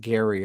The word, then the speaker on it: GYRI: I think they pronounce it Gary over there.